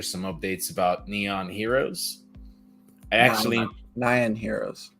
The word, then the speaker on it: Nyan: Nyan Heroes. Nyan Heroes. Well, I'm sorry, but it's a Y, and a Y gets pronounced as an E, and it's like English.